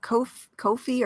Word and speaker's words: Ko-fi: It's kind of like, that tip jar type of thing where Ko-fi you can rhymes with no fee.